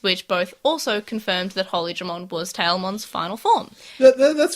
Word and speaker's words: Holydramon: So, of course, it's Holydramon, yay! So, I think you need to pronounce it the way you've written it down.